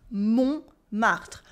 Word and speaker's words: Montmartre: Montmartre. The T is silent in the middle.